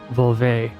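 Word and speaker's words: völva: of the curse is a vulva, or volve, pronounced in Danish, who was a Nordic seeress, or witch.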